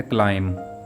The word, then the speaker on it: climb: Word है क्लाइम यानी चढ़ना। यहाँ भी एम के बाद बी आ रहा है, इसलिए बी साइलेंट होगा।